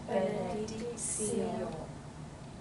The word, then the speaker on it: benedictio: Again, the cio. Together. Sit et benedictio.